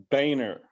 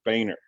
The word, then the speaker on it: Boehner: And it's pronounced Boehner, like the former Speaker of the House, Boehner.